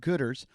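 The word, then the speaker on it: Goodr: to a pair of gooders it's g-o-o-d-r that's how they spell it g there's no er it's just r g-o-o-d-r um head over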